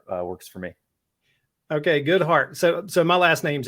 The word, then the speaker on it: Goedhart: last name is pronounced good heart uh I know it doesn't sound like it's spelled uh it's dutch and uh it's it's